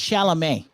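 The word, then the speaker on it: Chalamet: one's got Timothy Kat first of all it's shalam all right what did I say you know like you know like pronounce it with me Dune shalam there it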